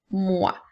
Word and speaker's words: moi: nous avons le mot moi nous avons la lettre M qui fait M et le son oui qui fait le son wa donc moi comme dans la phrase